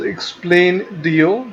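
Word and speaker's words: Explaindio: There is a software called as Explain.dio. This is pronounced, the spelling is EXPLAIN.dio.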